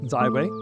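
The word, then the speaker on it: 自卫: finally the last two Chinese symbols represent self-defense pronounced zwe and highlights the core of our practice and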